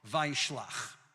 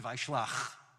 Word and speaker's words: Vayishlach: the way, is called Vayishlach. And by the way, it's not Vayishla, it's Vayishlach. So we have to make sure we say it correctly with the ch at the end.